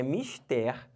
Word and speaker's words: mistério: falando em inglês mas não mistério é a palavra do português então é uma palavra oxítona tá olha para cá